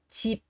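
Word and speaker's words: 집: mà chúng ta đọc vì nó ở phụ âm cuối nên là cái âm đó cũng sẽ được đọc là p p p và các bạn sẽ nói là gì ạ chip và cái từ chị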